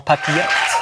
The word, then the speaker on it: papillote: Saumon en papillote.